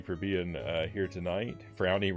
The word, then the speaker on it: Frownie: being uh here tonight frownie rhymes with brownie that it does I